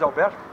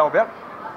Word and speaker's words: Alberto: Nós estamos ao lado do Alberto, que é a pronúncia correta é Alberto? É. Aqui se fala Albert, né? Mas, Albert. É, mas a frescalhando é. Mas ninguém fala Alberto.